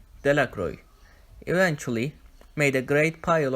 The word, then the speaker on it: Delacroix: detailed de la Cruz the villagers pronounced this name Delacroix eventually made a great